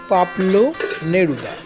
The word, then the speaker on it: পাবলো নেরুদা: অনেক সময় ভুল করে পাবলু করে ফেলি কিন্তু উচ্চারণটি হচ্ছে পাবলু নেরুদা এবং ইনি কিন্তু বাংলা সাহিত্যের কোন কবি নন